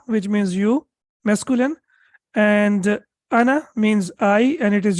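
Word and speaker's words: أنا: for the masculine in Anna alif is not pronounced so when we pronounce it we pronounce it like this like Anna like this and Hamza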